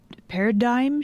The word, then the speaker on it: paradigm: Paradigm shift? The G is silent in that, isn't it?